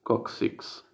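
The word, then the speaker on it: coccyx: la palabra en inglés médico que es toxics kuksiks si se pronuncia en inglés kuksiks y significa lo mismo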